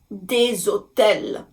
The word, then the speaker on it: hôtels: Des hôtels, des hôtels. Now again, same thing, because the letter H in French is silent, we look at the next letter, and the O is a vowel.